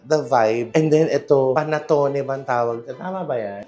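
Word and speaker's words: panettone: Panatone baang tawag? Tama ba yan? Panatone.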